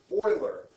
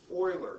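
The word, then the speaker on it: Euler: intellectual mathematicians years ago Oiler e u l e r pronounced Oiler just like this he decided to do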